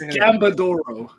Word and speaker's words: Gambadoro: No, I think it's Gambadoro.